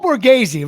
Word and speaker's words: Borghese: Listen, Paul, and it's Paul Borghese, right? Is that how you pronounce it?